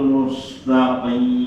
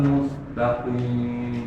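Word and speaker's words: مُسْتَقِيم: Mas Wahyu ihdinas siratal mustaqim sinnya jelaskan mus dialirkan ihdinas siratal mustaqim masih belum mengalir ya mustaqim nah mustaqim lagi Ihdinas siratal mustaqim.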